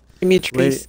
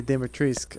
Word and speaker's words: Dimitrescu: Dimitrescu is not hard to say. Lady Dimitrescu. Dimitrescu. You don't pronounce the U.